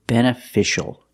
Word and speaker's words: beneficial: look at this word this word is beneficial beneficial we see the C before the I a making the sh sound beneficial beneficial it's an